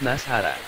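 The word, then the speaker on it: نصارى: Kata Nasrani itu, dalam bahasa Arab juga dilafalkan sebagai Nasrani, untuk tunggalnya, sedangkan untuk jamaknya disebut Nasara.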